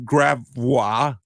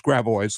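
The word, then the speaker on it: Gravois: we we are we we have Grava no it's grao ladies and gentlemen of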